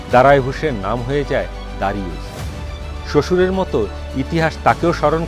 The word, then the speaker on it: দারিউস: পাশ্চাত্যের উচ্চারণে দারায় ভূষের নাম হয়ে যায় দারিউস।